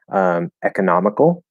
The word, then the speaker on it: economical: Economical or economical. So two ways to say that first syllable there, e or but economical. I wouldn't reduce it to it or So that one would work like economics.